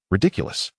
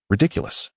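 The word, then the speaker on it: Riddikulus: "Everyone, please remember how to pronounce that spell. Ridiculous. Pay attention to the pronunciation and the rhythm of the pauses between each syllable. Now, everyone raise your wands and repeat after me. Ridiculous.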